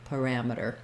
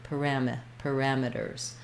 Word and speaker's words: parameters: Then, even though we have the word meters in parameters, because again this ram is stressed, then we don't say the E here. We reduce it to an I, parameters. And then our T, it falls between two unstressed syllables. So we, in American English, say that as a flap.